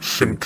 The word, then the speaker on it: SMPTE: you see on screen, pronounced simp if you verbally say it.